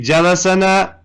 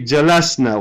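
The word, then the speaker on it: جلسنا: Do we say jalasana? No. We say jalasna. Why? Because this new na file made the scene majzoom or sakin with a sukoon on it. So we pronounce it jalasna.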